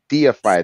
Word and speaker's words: deified: says it says no not defy not defied i'm saying deified i'm saying it wrong deified kings in egypt